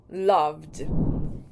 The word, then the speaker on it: loved: clean is pronounced cleaned love has has that V sound at the end so the past sense of Love is loved Okay so we've covered